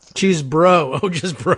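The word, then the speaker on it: Chesebro: No, Cheesebro. Cheesebro. Oh, just bro. It's BRO at the end. Yeah, so that's true. Yeah. One syllable there.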